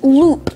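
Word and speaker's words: loupe: today's word of the day is loop spelled l-o-u-p-e loop now loop is a noun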